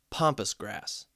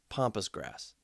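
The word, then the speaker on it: pampas: Pompus grass. And I think I'm saying it right. P A M P A S. Pompus grass.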